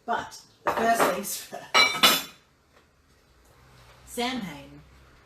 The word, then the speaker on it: Samhain: Samhain, spelt Samhain, pronounced Samhain, is a festival that's very precious to me.